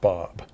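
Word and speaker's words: Bawb: Yes, it's pronounced Bob.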